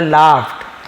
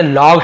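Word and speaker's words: laughed: The younger brother लाफ्ड, तो जो छोटा भाई था हंसा, यहाँ पे लॉग्ड नहीं पढ़ेंगे, लाफ, तो लाफ्ड सेकंड लाफ्ड, फ जैसे उच्चारण, लाफ्ड, तो छोटा भाई हंसा।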